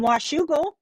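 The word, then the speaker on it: Washougal: hi bernardette she says from washugal you can tell I'm from Washington because I just pronounced that properly I finally LED and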